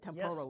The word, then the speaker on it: Temporal: Temporal, right?